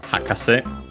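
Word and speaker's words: 博士: On its own, the meaning would be expert, learned person, and this would be accented on the first syllable on the ha, hakase.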